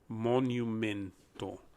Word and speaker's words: monumento: that word down more very similar to mo like mowing your lawn and that's the mo the nu is pronounced exactly like the word new in english the n-e-w as in i bought a new pair of shoes men is pronounced exactly as you would in english as well and then finally the to instead of two becomes monumento monumento repeat after